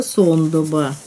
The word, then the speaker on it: Сондоба: Сейчас это произносится Сондоба.